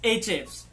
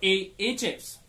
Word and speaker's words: Ahrefs: Number 4 is Ahrefs or Ahrefs. The pronunciation is still debatable, but the tool is absolutely fascinating.